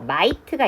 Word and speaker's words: might: 자, 얘랑 같은 표현은 어 마이트가 있습니다. 이때 마이트는 gh 소리가 안 나요. 그래서 m만 소리를 발음을내는 겁니다.